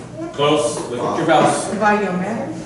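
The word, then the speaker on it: וַיֹּאמֶר: Vayomer. Vayomer. Everyone. Vayomer. Say it. Vayomer. Now look at your yud here. Okay. So it's not vayi. It's vayo. Okay. The aleph is silent.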